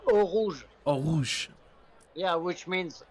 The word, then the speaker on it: Eau Rouge: Eau Rouge. Is that good? Yeah, Eau Rouge.